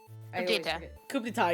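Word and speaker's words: coup d'état: Coup d'etat, yeah, you said it right.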